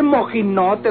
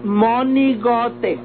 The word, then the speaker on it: monigote: conmigo mojin Note desgraciado no se dice mojin Note Don Mel se dice monigote y si bien yo